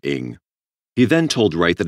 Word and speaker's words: Ng: friend's name is charlie cheetah ing cheetah pronounced cheetah an ing pronounced ing he then told wright